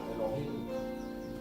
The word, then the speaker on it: Elohim: Elohim, la H se pronuncia como J, Elohim, significa Dios.